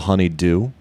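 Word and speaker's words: Honeydue: like that one there's the Honeydew spelled like honey and then d-u-e like it's something is due honeydew how do you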